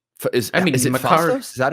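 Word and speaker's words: Phastos: Makkari, I I almost thought could have like been subtracted and um Is I mean, is it Fastos? Is that how you say his name? Yeah, Fastos.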